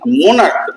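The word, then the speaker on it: monarch: এই স্টমাক পাকস্থলী, মোনার্ক রাজা, এইখানে দেখো সিএইচ উচ্চারণ ক হয়ে যাচ্ছে, এখানে কিন্তু আর সিএইচ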